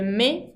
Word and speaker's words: met: Elle met con la T finale que no se pronuncia.